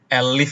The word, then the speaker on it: elif: Elif ya, pronunciation-nya harusnya elif.